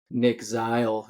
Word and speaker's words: Zeil: I heard you say it on the roster sheet, so that's how I knew it because I thought it was Zeal. But we got Nic Zeil with us today, forward for graduate forward for Colorado Christian.